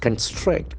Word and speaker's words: construct: that kill sound construct construct can see the accent force of the second syllable construct construct construct the